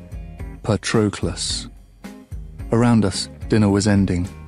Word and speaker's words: Patroclus: Achilles did not slur my name as people often did, running it together as if in a hurry to be rid of it. Instead, he rang each syllable. Patroclus.